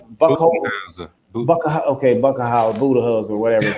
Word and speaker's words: Budenholzer: And a lot of times, and I can't pronounce the Milwaukee's coach. Is it Buchholz? Budenholzer.